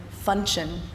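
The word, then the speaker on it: Funshion: And my father, true Irishman, thought he would really love the name Function. Function. Sounds like luncheon. Yes, it's spelled like luncheon. Okay. It's just with an F.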